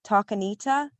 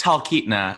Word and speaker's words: Talkeetna: do you pronounce that is it talk anita or am i completely butchering it i think you're adding syllables it's talkeetna but talcanita it sounds beautiful